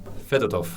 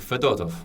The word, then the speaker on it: Fedorov: My guest today is Federov. Feder. So, it's rather hard to remember the accents. Yep. Right now, the accent on the second Letter Fedorov. Fedorov.